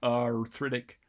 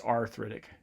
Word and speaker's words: arthritic: It's not arthritic, it's arthritic.